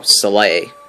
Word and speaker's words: Soleil: Oh, Soleil. That's right, that's how it's said. I've been saying Soleil.